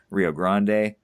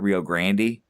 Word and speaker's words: Rio Grande: I suppose, the correct, Spanish pronunciation is the Rio Grande, but not Rio Grande.